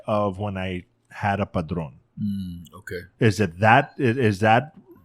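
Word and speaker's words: Padrón: that you miss said you mispronounced you said Patron yeah instead of padron and I was like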